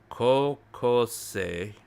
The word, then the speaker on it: 高校生: So when you write O in Japanese, you pronounce it like a stretched out O.